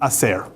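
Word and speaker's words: עשר: That's, now, in Hebrew, the letter that's pronounced as the s is also the same letter that pronounces a sh. So, aser, if you change the middle consonant to sh, the sh sound, it's asher.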